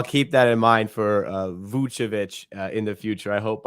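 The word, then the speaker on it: Vučević: Like it's Vucevic, but I know it's difficult for you. It's It's Nikola. Vucevic, so you Yeah, pronounce the Vucevic.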